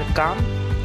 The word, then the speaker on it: comb: त्याच्या पुढं आहे कोम, स्पेलिंग आहे COMB. बी हा परत सायलेंट, ट्रेडमध्ये फ्लाय होताना दिसतो तो विंचरने असा अर्थ होतो याचा, कोम असं म्हण असं आपल्याला म्हणावं लागतं.